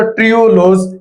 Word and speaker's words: ट्रीहालोज: तो इसकी एग्जांपल्स में सक्रोज और ट्रियोलोज ये आ जाते हैं। ये स्पेलिंग है ट्रीहालोज, लेकिन जब पढ़ते हैं तो ट्रियोलोज पढ़ते हैं इसे।